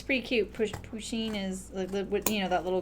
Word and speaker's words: Pusheen: Pusheen, it's spelled P-U-S-H-E-E-N. So the word push, or the word like a P-U in front of sheen.